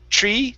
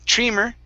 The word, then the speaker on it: trimmer: and the last one here is trimmer okay with a short eye instead of tree trimmer it's Tri trimmer trimmer trimmer okay better thank